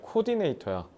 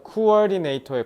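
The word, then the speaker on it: coordinator: 너네 대표적인 콩글리시 발음이 뭐냐면 코디네이터야. 코디네이터가 코어디네이터의 콩글리시 발음이야.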